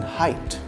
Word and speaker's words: height: E as in height. F as in halfpenny. Halfpenny is how you pronounce half penny.